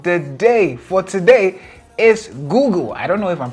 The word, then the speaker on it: Google: o g u l Google right the spelling is g o o g l e but the pronunciation is g o o g u l which is Google right